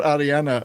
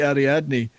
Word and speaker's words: Ariadne: They call her Ariana, but she should be Ariadne.